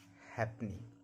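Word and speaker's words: halfpenny: इसको पढ़ेंगे make eight F एफ कब साइलेंट रहता है? एफ एकमात्र वर्ड है। ज्यादातर ज्यादा वर्ड नहीं है लेकिन कुछ एक वर्ड है जिसमें एफ साइलेंट है और वो वर्ड है हैपनी। यानी इसमें एफ को नहीं पढ़ा जाता है। हैप नहीं बोला जाता है इसको।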